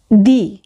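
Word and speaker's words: di: দি। ইংলিশে এটিকে উচ্চারণ করা হয় ডি এর মতো করে, অর্থাৎ ড, আর ইটালিয়ান ভাষায় উচ্চারণ করা হয় দ এর মতো করে, অর্থাৎ দয় রসিকারে দি দি।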